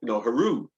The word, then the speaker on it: Horus: You've got Horus, yeah, which is the Egyptian term for, Haru, from ancient Kemet.